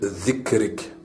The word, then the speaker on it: ذكرك: ذكرك وشكرك وحسن عبادتك Soyez vigilant dans la prononciation de ذكرك. Il s'agit de la lettre ذل. Il n'y a pas d'équivalent dans la langue française et ne se prononce pas comme la lettre Z de l'alphabet français.